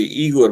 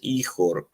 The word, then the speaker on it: Ihor: That's actually Igor, but they pronounce the G as H in Ukraine, so it's Ihor.